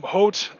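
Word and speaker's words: Hoth: name yet hello Rasmus how you doing um but we had guys like Papa hot as he's often called no it's not pronounced ho it's not an ice planet in Star Wars um hot and especially Garian and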